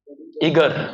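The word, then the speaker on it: eager: ईगर, नॉट एगर, pronunciation गलत है, ईगर।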